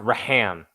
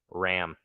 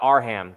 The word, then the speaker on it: Ram: It's pronounced Ram. Ram. It's RAM. Couldn't wait for the future content you have. I appreciate it, man. I appreciate it. Oh, I thought Arham.